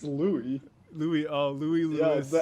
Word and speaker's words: Louis: I think it's Louis. Louis Lewis. Yeah, the S is silent.